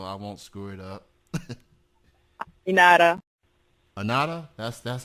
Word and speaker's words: Aminata: Aminata. Anada? That's how it's pronounced. Yeah, Aminata. I know. I go through this every day, but yeah, it's Aminata.